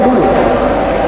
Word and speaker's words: Doeloe: Sejak tahun jebot, dari zaman Doeloe, ya bukan dulu, Doeloe ada kan, pakai Doeloe ada kan, dibacanya dulu.